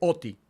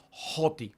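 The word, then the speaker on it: ὅτι: tenemos la palabra, dice oti. Todavía ustedes no leen, pero ahí dice oti. Pero como tiene un espíritu rudo, entonces se aspira y se pronuncia como joti.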